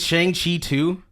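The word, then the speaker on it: Shang-Chi: the interesting thing with Shang Chi 2, it's actually so people don't know this, it's actually Shang. Just so nobody gets confused, it's spelled like this.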